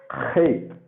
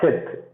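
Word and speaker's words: חית: You can write it this way, but it is not Chet. Okay, it is not Chet. It is Hate. Hate. You have to pronounce it from your throat.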